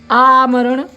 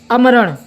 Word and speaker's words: आमरण: आमरण, इसको अगर हम मात्रा का चेंज करके उच्चारण करते हैं तो क्या उच्चारण होगा अमरण। क्या होगा अमरण। और वापस पुरानी मात्रा को लेकर के आते हैं जो हमने पहले उच्चारण किया था, वो क्या था आमरण। यानी इस शब्द को हम ठहराव ले रहे हैं उच्चारण करते समय। तो ठहराव ले रहे हैं इसका मतलब बड़ी मात्रा लगेगी।